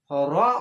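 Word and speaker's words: ر: উন্তস্ত জয়াকা আল্লাহ, জাল র, র উচ্চারণ হবে বাংলা র এর মতো, র, দাল জাল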